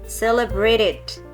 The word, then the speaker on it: celebrated: Sometimes you should pronounce the ed one, but sometimes you don't have to pronounce them. Like example, biasanya yang berakhiran t, celebrate, celebrated, okay?